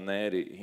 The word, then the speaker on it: Neri: un nome toscano infatti si dovrebbe pronunciare neri in viene da ranieri ma io all'anagrafe sono